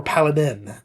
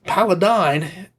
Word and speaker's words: Paladine: not pronouncing, certain things like Paladine or Paladin, okay? And it's not Paladin. I know that because Paladine, I literally got to